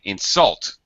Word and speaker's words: insult: when verb that's it insult he insulted me so we stress the second part of the word this is very common